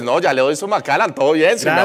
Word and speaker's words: Macallan: ¿Cómo se pronuncia Macallan? No, Macallan. O sea, normal. No hay que esforzarse. Macallan. Pero no hay que entrar como en un tono así como, oiga, para sonar más interesante, weón.